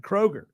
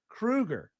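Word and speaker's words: Kroeger: because he's Canadian yeah I guess his last name is actually Krueger ah like fredd but people have been calling him Kroger his entire professional career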